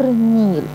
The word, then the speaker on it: النيل: ده اسم نهر النيل. النيل. اللام هنا لام ايه؟ شمسية ولا قمرية؟ لا شمسية. النيل ما نطقتهاش.